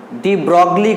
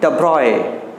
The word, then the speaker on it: de Broglie: আমরা এইটার প্রোনাউন্সিয়েশন হয়তো অনেকে ডি ব্রগলি করবে, ঠিক আছে, কিন্তু এটার প্রোনাউন্সিয়েশন হবে ডি ব্রগলি হবে না, দ্য ব্রয়ে, দ্য ব্রয়ে, ঠিক আছে, সায়েন্টিস্ট দ্য ব্রয়ে, জি এর প্রোনাউন্সিয়েশনটা সেভাবে আসবে না।